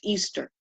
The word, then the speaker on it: Ishtar: of the goddess Inanna, which is Ishtar, pronounced Easter.